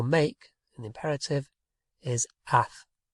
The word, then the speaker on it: haz: It gets cut right down, and do or make in the imperative is haz, H-A-Z.